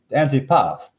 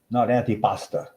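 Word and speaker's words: antipasto: You know, it's antipas. It's not antipasta.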